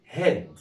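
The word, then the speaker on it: hid: خدوا بالكم ان دي كانت اسمها هايد عشان كان في الاخر ايه، لكن دي مفيش ايه، فيبقى نطقها الصح ايه؟ هيد.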